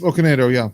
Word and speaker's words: Okonedo: And I hope I don't mispronounce this. Sophie Okonedo. Close. Okonedo, yeah.